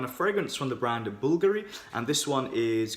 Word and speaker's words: Bvlgari: at the brand, and I used to think it was pronounced Bvlgari, and when I was doing a bit of research I figured out it's actually pronounced Bvlgari.